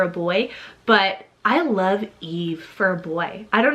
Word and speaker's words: Yves: Y is the name Eve, spelled Y-V-E-S, Eve. Or you can do Eves, a lot of people pronounce it like, but the proper way is Eve, and it's a French originated name meaning you would.